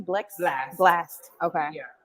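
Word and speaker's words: Blxst: we have how do you say his name blex blast okay yeah blast chris brown giving lucky day the weeknd and blue okay so two of them i don't really know too well which is blast in blue but i've heard of them and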